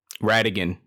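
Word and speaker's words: Radagon: uh oh ra uh radigan that's what they they yeah that that's how you pronounce it correctly at radigan yeah read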